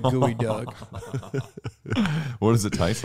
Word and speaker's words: geoduck: I think it's like it's written like geoduck but it is it's a spell it's said like gooey duck what does it taste